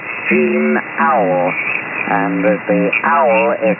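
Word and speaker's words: Auel: And that was a book by a woman called Jean Owl. And the owl is spelled Alpha Uniform Echo Lima.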